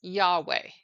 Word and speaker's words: Yahweh: name as the tetragrammaton or yhwh traditionally we pronounce this name as Yahweh in this style we also see God depicted